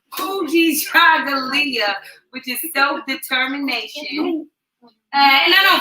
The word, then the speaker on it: Kujichagulia: Today is Kujichagulia. He got me saying it wrong. Kujichagulia, which is self-determination.